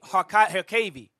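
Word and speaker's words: Harkavy: It's spelled with a Y, though. Harkavi is spelled with a Y usually. It's Harkavi. Read it.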